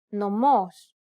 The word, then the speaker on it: νομός: This accent just indicates that you need to stress the syllable. That's it. Κάλος, καλός. Νόμος, νομός. Θέα, θεά. Notice how the accented syllables are emphasized? It's pronounced a little bit louder and longer than the surrounding syllables.